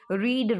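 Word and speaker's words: read: रीड रेड रेड, रीड की third form रेड पढ़ी जाती है, लिखी रीड जाती है, तो वो हम जो है रीड की तरह ही स्पेलिंग लिखेंगे लेकिन पढ़ने में उसको रेड पढ़ेंगे।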